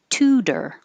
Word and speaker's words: tutor: The T will change to D when it's between two vowels and in the unstressed syllable. So tutor is a good example of that. The second T is in the unstressed syllable, so it can change.